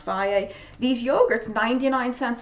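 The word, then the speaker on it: Fage: the the Phi a some people call it phage it's pronounced via these yogurts ninety nine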